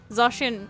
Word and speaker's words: Zacian: Zacian, yeah, it's supposed to be pronounced that way.